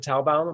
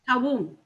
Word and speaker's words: Talboom: How do you pronounce it? Talbaum or Talboom? Talboom. Talboom.